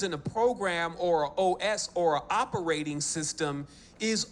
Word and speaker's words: os: or a wheel, and this word also is os. That's how it's actually pronounced, and it's spelled O-S, and it means in archaic